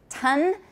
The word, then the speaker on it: tongue: know is the tongue make sure everyone learns how to say it correctly in english because like i said it gets mixed up with tongue and tone which are totally different so tongue is like